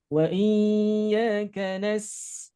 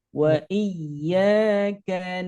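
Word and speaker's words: إِيَّاكَ: Kemudian yang kedua ada tekanan juga, tapi jangan sampai ditahan. Jangan sampai wa iya tidak boleh, cukup nekan saja. Wa iyyaka nas.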